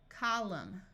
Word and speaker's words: column: coming climb climbing climber if you have MN at the end of a roote the N will be silent so this sound is m m Au says a Autumn column solemn if you have